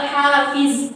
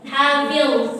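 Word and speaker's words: حافظ: Jangan jadi lamma 'alaiha hafiz. Yang kayak gitu ya. Hafil, agak ditahan. Hafil.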